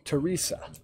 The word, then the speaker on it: Teresa: So it is with the long E, Teresa.